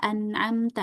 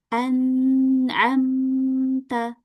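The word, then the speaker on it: أنعمت: bukan anamta salah tapi kita alirin anamta. Sekarang antunna baca yang ini. Anamta anamta. Anamta. Iya. Jadi bacanya dengan dialirkan ya. Jangan sampai dipantulkan.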